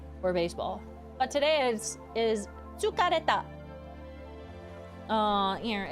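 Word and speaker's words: 疲れた: Tsukareta. Tsukareta. Oh, I could have done baseball. That'll be tomorrow. Tomorrow's word of the day, if I remember, will be for baseball. But today is tsukareta.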